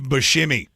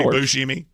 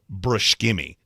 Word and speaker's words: Buscemi: But it could be Buscemi. He even said, I've never heard anybody call him Steve Brushkimi.